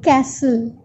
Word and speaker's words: castle: Letter L is silent. Read all the words. You have to read all the words. I'm giving you a few examples. So castle, castle.